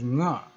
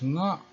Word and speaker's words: nga: The word nga is very hard to translate into English because it does not have any equivalent, and it is pronounced as nga with the throat closed.